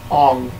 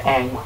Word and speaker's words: Aang: When people pronounce it Ong instead of Aang from Avatar.